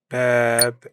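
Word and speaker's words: باب: Bab means door. Remember this one. It's bab with equal stress on both syllables.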